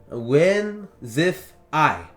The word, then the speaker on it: Whimsiphae: Whimsify. That's how it's pronounced, minus the burp. But it's spelled Whimsiphae.